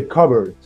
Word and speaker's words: cupboard: silent letter in the cupboard now you don't pronounce the P the p is all